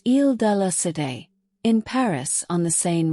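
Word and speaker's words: Île de la: On March 18th, 1314, a platform was erected on the Isle Dea site, pronounced Il Dala, in Paris on the Sain River.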